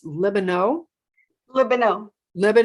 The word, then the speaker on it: Libenow: yes and i think i've been saying your name wrong it's lebanon let me know let